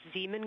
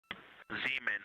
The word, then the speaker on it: Zeeman: Integrity Science, we believe that's Zeeman Crater. Oh, I floated away from the speaker. Say it again, please. We believe that that is Zeeman Crater. Zeeman.